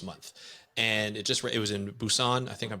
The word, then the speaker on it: Busan: and it was in Busan. I think I'm pronouncing that properly.